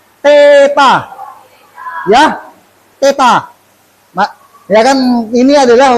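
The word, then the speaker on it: theta: ada yang tahu ada yang tahu gak Apa bacanya Teta ya ya kan ini adalah huruf ya huruf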